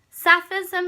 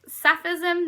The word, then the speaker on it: Sapphism: lesbianism and I think rhymes with plenty of other words you've got baptism Sufism so against each other um Catholicism if you want to take it there but you can also capsicum sophism very close sounding you've also